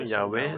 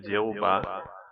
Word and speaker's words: Yahwé: De ce point de vue, la prononciation Yahwé serait plus juste que Jéhobah, forme qui ajoute arbitrement les voyelles du mot Adonï. Malgré ses efforts, la signification